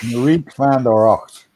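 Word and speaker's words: Marieke van de Rakt: Yeah, it's Marieke van der Rocht.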